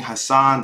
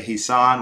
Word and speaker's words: Hassan: So instead of saying Hassan, they'll say Hisan with the E, or Hassan with one S, or, you know, you'll see all kinds of different ways people mispronounce things, right?